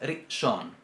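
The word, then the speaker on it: ראשון: Por ejemplo, en la palabra primero, en hebreo, que es rishon. Rishon. Si decimos rishon, está mal. Según la pronunciación semítica, no está bien. ¿Por qué? Porque no estaríamos pronunciando lo que esta letra significa.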